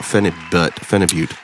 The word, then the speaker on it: phenibut: So Brian, are you okay to talk about phenibut? Yeah, yep. Phenibut. Can you tell me what you have a more clear vision or a more rounded out explanation of what phenibut is?